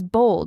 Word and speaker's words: bold: The pronunciation is slightly different, too. Bold has more of an O sound, while bald is a bit flatter with an A sound.